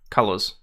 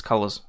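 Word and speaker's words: Cullors: you're probably not wrong colors pronounced as colors I swear if you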